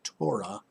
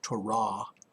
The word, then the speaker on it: Torah: we know that originally there was the torah actually it's pronounced torah the first five books